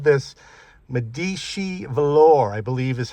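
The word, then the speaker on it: Medici: And by the way, Cadillac called this Medishi velour, I believe is how you pronounce it. M D I C I. Almost have to say it with an accent. Medishi.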